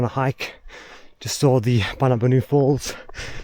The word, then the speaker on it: Boonoo Boonoo: It's spelt Boonoo Boonoo, but it's pronounced Boonoo Boonoo.